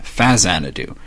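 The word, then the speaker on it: Faxanadu: to Hudson soft who created the NES game Faz anadu yes that's how you pronounce it you might be familiar with this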